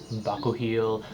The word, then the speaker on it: Bakuchiol: Again, Bakuchiol is actually pronounced Bakuchiol, but we're just gonna go with Bakuchiol because phonetically it just reads as Bakuchiol.